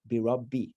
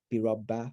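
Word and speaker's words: بِرَبِّ: So it's birabbi, not birabba or birabu or anything like that.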